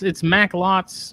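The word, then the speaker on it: Macklot: I'm pronouncing Mac. It's Maclots. I just shorten the O.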